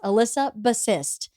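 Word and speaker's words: Elissa Bassist: recommended call Hysterical by Alyssa bassist I terribly mispronounced her name in the episode I apologize it is Alyssa bassist so hysterical is the name of the book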